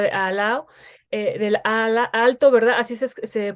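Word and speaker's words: Aalto: por la universidad de al lado del ala alto verdad así se se pronuncia verdad así es y bueno en la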